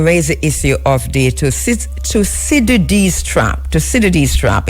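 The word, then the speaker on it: Thucydides: And it was during that dinner that Chi Chi Ping raised the issue of the toid trap toid trap. It's spelled t h u c y d i d e s.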